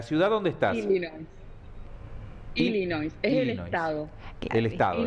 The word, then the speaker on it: Illinois: Bueno, ¿cómo se pronuncia entonces? Sí, ¿la ciudad dónde estás? Illinois. Es Illinois.